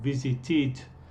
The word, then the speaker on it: visited: La primera regla es para los verbos cuando la pronunciación es un id, como visited. Es para los verbos que terminan en los sonidos d o t, como visit, es la palabra o el verbo en el presente. Visit termina en este sonido t, entonces la pronunciación aquí es it.